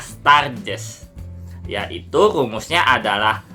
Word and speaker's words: Sturges: Tulisannya Sturges, tapi dibacanya Sturges.